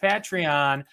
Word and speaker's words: Patreon: always say that's how you say it it's pronounced patreon thank you to all of our patrons all